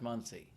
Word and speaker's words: Muncie: Muncie? Pronounced Muncie.